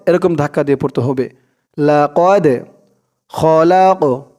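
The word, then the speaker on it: لَقَدْ: জজম সাকিন দুটোটা একই লাকদ লাকদ কফ দাল জবর কদে কদে এরকম ধাক্কা দিয়ে পড়তে হবে লাকদ খলাক এই কফটা কলকলার হরফ ধাক্কা দিয়ে পড়তে হবে লাম দিয়ে কফ ধরবে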